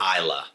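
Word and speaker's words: Islay: That's Isla? How do you pronounce it? Isla. Isla. Isla.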